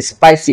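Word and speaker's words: spicy: স্পাইসি স্পাইসি, দেখছেন আমি মানে পয়ের মতো উচ্চারণ করছি, স্পাইসি, এটাই সঠিক উচ্চারণ।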